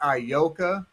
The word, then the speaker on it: Ayoka: name a-y-o-k-a right a-y-o-k-a it's i yoka b the story is